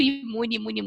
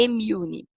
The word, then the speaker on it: Immune: Eu tinha costume de falar muito imune, mas não é. A pronúncia correta é Immune.